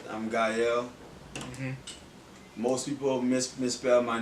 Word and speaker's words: Gaël: Like I said, I'm Gaël. Most people misspell my name or mispronounce it, but it's okay. But it's just Gael, Gaël.